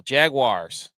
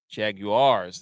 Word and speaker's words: Jaguars: Jaguars. Say it like that. Wars, not wires. Jaguars. Jaguars.